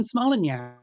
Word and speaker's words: Smolenyak: It is Megan Smolenyak.